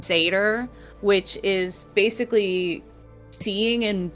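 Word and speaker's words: seiðr: And they're also known for their specific type of magic, which is, I think is pronounced Satyr, which is basically seeing and being able to manipulate the future.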